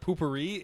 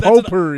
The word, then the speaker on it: potpourri: Yeah, he's the guy that carries, what is it, poopery in your car? Potpourri? No, poopery, like the toilet spray. It's Like- called potpourri. No, it's poopery. It's That's potpourri. That's an item. It's pronounced potpourri.